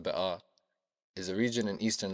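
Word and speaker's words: Bekaa: flowers of Paradise The Bea Valley which in Lebanese Arabic is pronounced ba is a region in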